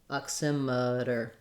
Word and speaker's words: oximeter: next two unstressed syllables this e even though it looks like the word meter uh we don't say an e in this syllable in meter the e says e because it's stressed in oximeter emitter it has um an unstressed schwa sound so it sounds like uh oximeter then for american english